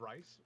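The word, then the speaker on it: Reis: By Vita Ayala, with art by Rod Reese, letters by VC's Rod Rice. I'm not 100% sure. I heard it pronounced Reese the other day on a podcast, a Marvel podcast.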